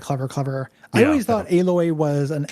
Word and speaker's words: Aloy: with the names like aloy feels like a direct uh uh illusion to the time machine to me like it's not spelled the same but it is said the same the fact that the